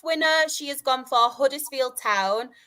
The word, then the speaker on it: Huddersfield: She has gone for Huddersfield Town. Before you come at me, I did pronounce my H.